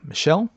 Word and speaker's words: Michel: Well, I'm trying to describe what Michelle Fulcott, I'm going to spell it just in case I've butchered his name. M I C H E L. Michelle.